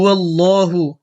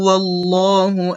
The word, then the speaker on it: আল্লাহ: লাল এই এটা হচ্ছে এই লামটা পুরো হবে আল্লাহ হবে আল্লাহ বলবো না এটা পুর হবে আল্লাহ শব্দ পুর এবং বারিকের যে নিয়ম ইনশাল্লাহ এটার